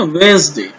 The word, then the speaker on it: Wednesday: वेडनेसडे को कैसे बोलना है, वेंसडे। क्या बोलना है, वेंसडे, डी को साइलेंट करना है, वेंसडे, वेंसडे।